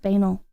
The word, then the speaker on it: banal: Define it is pronounced banal you guys hear that you guys can't hear that hold on it is pronounced banal banal banal am I crazy you